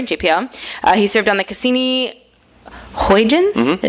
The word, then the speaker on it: Cassini-Huygens: He served on the Cassini-Huygens?